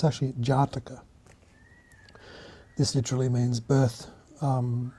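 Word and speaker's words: Jātaka: it a horizontal bar this means that it's pronounced for twice as long as the other syllables so it's actually Jara this literally means birth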